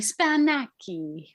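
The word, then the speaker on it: σπανάκι: Don't take anything Spanaky is the Greek word for spinach. See, fake it till you make it, ladies. Google tells me Spanaki. You got to pronounce it with the right finesse.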